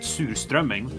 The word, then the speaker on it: surströmming: It's like surströmming, or as we pronounce it, surströmming, is kind of just like, it's something that usually only sells by the coasts, like the coastal cities.